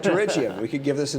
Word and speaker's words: pterygium: I love this word, pterygium. Where else do you get a silent P in the English name?